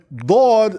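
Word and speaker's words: ضاد: So Dad, right? Dad is not the same as Del. Del, right?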